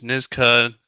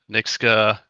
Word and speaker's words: Nksta: It's Nksta, Nksta.